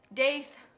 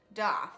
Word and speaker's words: daith: Pearson and that is the day's daf however you want to pronounce it don't anyone come from me saying that one is correct over the other because both are accepted but if you're gonna be technical DAF is the original pronunciation so the days off